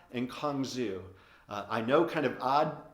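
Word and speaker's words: cang zhu: that through two very unique herbs they're actually pronounced as huangbai and kong zhu i know kind of odd pronunciations for herbs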